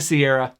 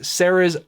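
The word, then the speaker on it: Serra's: I'm so used to saying Sierra, even though it's not the right pronunciation, so no need to let me know. It is Sarah's Guardian.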